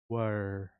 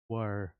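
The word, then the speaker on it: we're: इसका short form होगा जब हम इन दोनों शब्दों को जोड़ देंगे तो यह बन जाएगा वर। Please repeat after me. वर। तो यह वी आर नहीं है।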